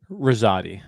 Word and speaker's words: Rosati: do I pronounce it Rosati is that am I pronouncing it correctly Rosati yeah yeah I was saying that was close yeah yeah I mean it's an Italian name you can say it